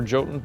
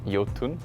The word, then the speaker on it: Jotun: Thunder Lotus as a studio well for for Jotun specifically I'd say it's definitely the the combination of the hand-drawn art the epic boss fights and the Norse mythology as I understand it it is pronounced yatin we pronounce it jotun so we've been getting